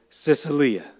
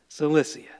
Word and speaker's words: Cilicia: Tarsus was the capital of Sicilia, or Cilicia. I mispronounced it. Cilicia.